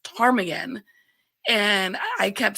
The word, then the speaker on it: Ptarmigan: I remember one of my early calls at my new agency, we have a street in the city that's pronounced Ptarmigan, and I kept spelling it with a T Tom.